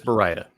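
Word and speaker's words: Baryta: I believe it's Bara. Bara. And uh the reason I'm fairly confident of that is I met with the Ilford guys in the paper division. They they seem to pronounce it that way.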